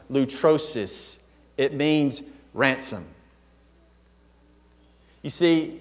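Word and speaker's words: λύτρωσις: what eternal means but this word redemption is pronounced loot rosis it means ransom you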